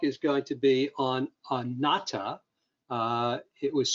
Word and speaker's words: anatta: uh today's talk is going to be on nata uh it was spelt wrong on the uh